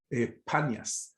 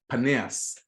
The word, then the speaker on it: Paneas: to be abundance but the real the original pronunciation would be paneas and in hebrew it